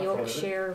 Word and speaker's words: Yorkshire: Yeah, I know the Yorkshire Ripper. You pronounce it slightly differently. Sorry, Yorkshire Ripper. Yorkshire. Yorkshire. Yeah.